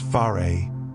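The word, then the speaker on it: fare: The fair, pronounced far, is the traditional Polynesian house.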